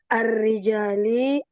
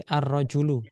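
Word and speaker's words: الرجل: Arrijali isim tandanya alif lam. Alkarimi juga isim tandanya alif lam juga. Iya. Tapi di sini cara bacanya bukan arrijali tapi arrajulu ya.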